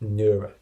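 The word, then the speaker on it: Nerja: It's spelt Nurja, but it's pronounced Nura.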